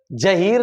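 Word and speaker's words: ज़हीर: जैसे जहीर लिखा हुआ कहीं आपने देखा होगा। जहीर की स्पेलिंग देखते हो तो जेड लिखा होता है वहां। ठीक? तो उसको जहीर नहीं कहेंगे। उसको कहेंगे जहीर। जहीर जहीर दोनों में यह अंतर है।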